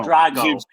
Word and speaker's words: Drago: Drago, not no.